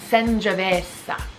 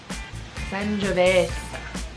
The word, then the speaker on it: Sangiovese: So, Sangiovese. Sangiovese. And go try one tonight. Really work on that pronunciation.